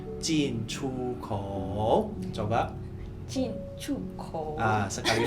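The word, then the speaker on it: 进出口: Kalau di bahasa Mandarin itu kita bacanya jin chu kou.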